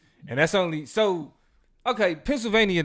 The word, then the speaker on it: Pennsylvania: you say Pennsylvania funny you pronounced the ni which is very peculiar Behavior to me what's the name of that pronounce it Pennsylvania how how you pronounce it Pennsylvania Pennsylvania it's an extra syllable in there that's not supposed to be there at the end that